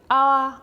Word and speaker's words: hour: example you have the hour and the hour yeah I'm talking about hour in terms of time the H there is silent and I have hour